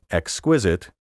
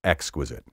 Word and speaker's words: exquisite: Influence, exquisite, preferable, and all the rest are either trendy or flat out wrong. The traditional and preferred pronunciations are influence, affluent, superfluous, preferable, comparable, formidable, integral, hospitable, applicable, and exquisite.